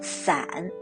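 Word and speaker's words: 伞: it's on brighter the umbrella in mandarin is pronounced as san which is similar as the apart in chinese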